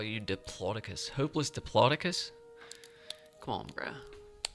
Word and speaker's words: Diplodocus: dinosaurs and they said that it is it's pronounced diplo diploticus and like that just like blew my mind because I was like reading like hopeless diplodocus but it's just diploticus like I've been saying it like a total